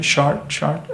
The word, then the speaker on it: Chartres: Am I pronouncing it right? Chartres?